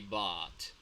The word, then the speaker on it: bought: okay now um Marcos be careful with the pronunciation of this one this is bot I bot it is like a long ass sound bot